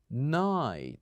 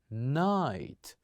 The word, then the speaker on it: night: the word is night night say after me night so here we kept G and H silent and we pronounce the other letters night the other word